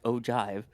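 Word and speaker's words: ogive: are the ojive panels, ogiv, despite being pronounced ojive.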